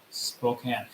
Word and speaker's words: Spokane: good job yeah excellent job very well done Spokane there we go this this name is an